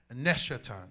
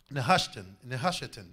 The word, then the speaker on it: Nehushtan: it is called, and he had called it Neshetan, if I'm not pronouncing it right. Nehushtan, thank you.